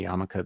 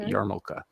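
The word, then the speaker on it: yarmulke: in this case uh when people say yamaka they drop the r it's yarn yarmoka and then usually the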